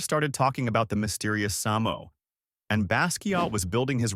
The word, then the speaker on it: SAMO: and a new alias, Samo, pronounced Samo and short for same old.